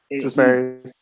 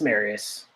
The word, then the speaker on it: Marius: It's just Marius. Okay, Marius. It's just Marius.